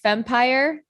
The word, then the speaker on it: Fempire: So I see the word, I want to say this right, Fempire. Is that how you say it? Yeah.